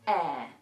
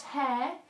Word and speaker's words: heir: he had a long reign the next useful word is air not hair air and it's pronounced exactly the same as an heir is